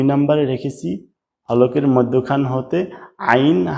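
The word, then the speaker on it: ع: এই মাঝখান হতে হবে আইন হা আইন হা একটু চাপ দিয়ে মাঝখান থেকে বললেই আইন হা সঠিকভাবে উচ্চারণ হয়ে যায়।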